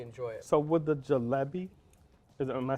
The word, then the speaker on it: jalebi: So would the jalebi, am I saying it right?